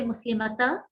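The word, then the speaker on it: مسلمتا: And we're not going to say Muslimata because that is the singular nasab. We have to pronounce the alif at the end. Muslimata.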